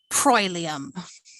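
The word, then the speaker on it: proelium: i think of the the oe um diphthong is the the word for battle prolium uh which always so oe often says oi let me come to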